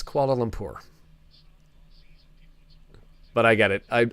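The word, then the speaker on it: Kuala Lumpur: guys mispronounce koala lumur it's not koala Luma it's koala lumur but I get it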